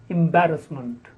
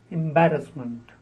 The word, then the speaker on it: embarrassment: I have heard is elite the next is embarrassment embarrassment the stress on back embarrassment 39 Encyclopedia in Fleur PTA Encyclopedia Britannica you